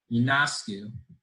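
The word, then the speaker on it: Ionescu: times on ESPN so I figured out how to say it now Yoon asked you she she's the only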